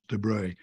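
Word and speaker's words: de Broglie: it's spelled the broglier you know but he's pronounced debris another Nobel Prize winner says I regard Consciousness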